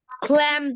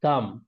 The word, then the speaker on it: calm: ক্ল্যাম down, ক্ল্যাম। আচ্ছা, এটা তুমি কি CALM এটা প্রনাউন্সিয়েশনটা করতেছো? ইয়েস স্যার এটার প্রনাউন্সিয়েশনটা হচ্ছে just like COME, কাম। Okay, the L is not pronounced here.